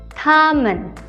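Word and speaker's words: 他们: T dibaca seperti huruf D, jadinya ta, ta. Selanjutnya ada MEN, men, tamen.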